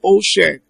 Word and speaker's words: ocean: It's ocean.